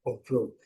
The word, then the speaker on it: control: usar a entonação correta, a estress a sílaba, né, tônica correta, é control. Control, se nós falarmos control, eles podem não entender ou podem achar estranho, né?